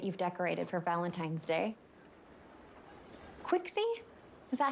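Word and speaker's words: Qixi: the way that you've decorated for Valentine's Day quickie is that how it's pronounced Chi the Chinese celebration of love it's rooted in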